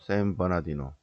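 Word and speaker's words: San Bernardino: 세인트 베르나르디노인데 어 거기에 어 미국 발음으로는 샘버나디노 샘버나디노 교가 있는데 그거는 이제 LA에서 동쪽으로 쭉 개인 미국에서 제일 넓은 땅이죠.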